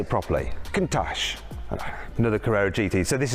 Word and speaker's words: Countach: Countach.